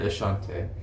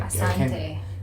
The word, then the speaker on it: asante: No, it's like Asante. It's like a slight mispronunciation because it's the Oshante. same word. Very different. Asante, Ashante is the same word. It's just you pronounce the beginning different.